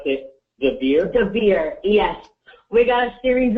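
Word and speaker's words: Dvir: And his first name is Devere. It's D-V-I-R. You pronounce it Devere? Devere, yes.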